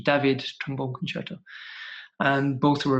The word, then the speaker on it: David: Hall, he did the famous David, that's the right pronunciation, David trombone concerto.